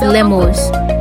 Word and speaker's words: lemur: I'm saying lemur. It's lemur, okay? So when you go outside, say lemur.